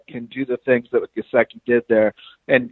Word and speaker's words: Gesicki: But the Mike Gesicki out of Penn State I think I'm pronouncing his name Gesicki, correct. no, it's Mike Gesicki, yeah.